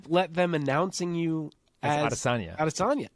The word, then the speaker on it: Adesanya: Whenever he's on Ariel, they at some point will broach the topic of how his name is actually Adesanya.